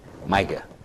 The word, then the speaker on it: Miga: Some people pronounce your name Miga, and some pronounce it Miga. What is it really supposed to be? Miga.